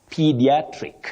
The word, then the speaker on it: pediatric: High front sound e pediatric okay pediatric that is the adjective then we have pediatrition not pediatrition then pedi pediatrics pediatrics okay so what is important is p p not Pi okay that's a surprise